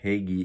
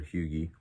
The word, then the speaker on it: hygge: warm, inviting, cozy home, which is what Hygge is all about, or Hygge, depending on where you're from and how you want to pronounce it, it's important to resist the pull of more things.